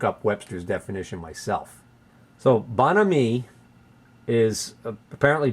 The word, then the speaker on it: bonhomie: had to look up Webster's definition myself so bonhomie is apparently bonhomie is the correct pronunciation there's a couple of definitions the late 18th century from the French definition is bonhomie meaning good fellow generally speaking modern use of